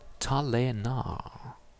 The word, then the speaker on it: Talénah: I think we shall now go into the Midorian most wanted roster, and the next one is in Mr. Talénah, with an accent on the E.